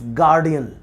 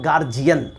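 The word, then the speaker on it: guardian: लेकिन इसमें भी शायद you must know the right pronunciation is that is गार्डियन, गार्डियन, इट्स नॉट गार्जियन, इट्स गार्डियन।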